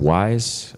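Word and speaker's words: Wwise: we needed why is even though it looks like W wise they pronounce it wise it's called wave works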